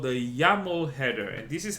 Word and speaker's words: YAML: Now this here is called the Llamo header, and this is how Llamo is spelled. AML. Okay, and this stands for yet another markup language. Okay, if you care. Okay, but this is called the YAML header.